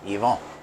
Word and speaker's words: Ivan: by the name Elon my name's Ivan however up in Canada I never have a problem because it's pronounced exactly the way it's supposed to be Yvonne because the first Canadian